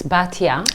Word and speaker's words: Batia: Actually, it's Batia. Batia. My friends call me Bati. Okay. And I went by Bat for many years.